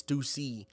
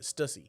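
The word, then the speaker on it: Stüssy: So it's it is Stucy, but I don't have the accent over the U. So I just pronounce it stussy.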